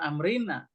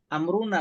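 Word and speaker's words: أمرنا: sebagai Isim dari Laisa dia jangan amrina amruna BAC Siapa saja yang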